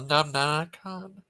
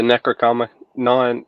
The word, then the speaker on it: Necronomicon: Yeah, he read about the Numnanicon, he said. You ever heard of that? What now? Robert? Yeah. The book from the Evil Dead movies. Oh, the Necronomicon.